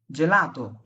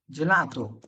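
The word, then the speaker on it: gelato: জি এর পরে যখন এ অথবা ই থাকবে, হ্যাঁ, জি এর পরে যেমন আমি বললাম যে ভাই জেলাতো, জেলাতো কেন হবে জানেন? জি এর পরে এ আছে, হ্যাঁ, বা জেনোভা, জেনোভা, কারণ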